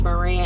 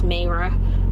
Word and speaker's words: Mayra: I said her name wrong before. I think I called her Maria. I thought it was Maria, and I think it's Mayra.